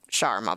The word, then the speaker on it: shawarma: So she taught us all how to say shawarma correctly, which should be pronounced in like fewer syllables, but it is like shower and ma.